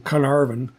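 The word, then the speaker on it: Caernarfon: And thinking about my Welsh pronunciation, Carnarvon. And so the C is always a hard C.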